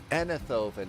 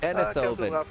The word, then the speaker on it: Eindhoven: Enithoven is how we pronounce this. Bravo, defense of Papco, we can give you good right. All right, Enithoven is how you pronounce this one.